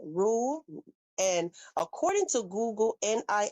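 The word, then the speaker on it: nisi: And according to Google, N I SI in this court terminology is basically pronounced NI like N E S E. Okay, so Ni.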